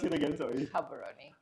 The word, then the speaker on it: Gaborone: know how to pronounce it how do you pronounce it again sorry habaroni habaroni Okay, thank you.